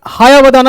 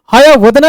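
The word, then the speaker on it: हयवदन: गिरीश देखिए तो जरा सा, गिरीश कर्नाड हायावदाना लिखे हैं, ठीक है ना। हायावदना इसका सही उच्चारण है, हायावदना। हाया मतलब होता है घोड़ा, वदन मतलब शरीर।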